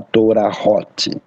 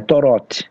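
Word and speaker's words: תורות: Você não vai falar Torahot. Não, porque aquele re é só marca de vogal. Então é Torot.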